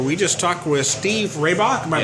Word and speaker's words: Rehbock: We just talked with Steve Rehbock. Am I pronouncing that name right?